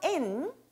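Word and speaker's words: 円: 자, 원을 일본어에선 엔이라고 읽습니다. 있지망 엔, 낱개 아루 있다 라고 이야기를 하네요.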